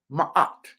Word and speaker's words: Ma'at: Well, it is a statue of Ma'at, and that's spelled M-A-A-T.